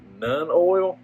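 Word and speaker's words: Nuln: One of the things I'm actually going to use is this Citadel Shade Nun Oil right here. I think that's how you say it, N-U-L-N.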